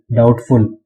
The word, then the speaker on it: doubtful: DOUBTFUL, डाउटफुल. अब डाउटफुल की spelling में बी भी आता है, लेकिन ये बी साइलेंट होता है.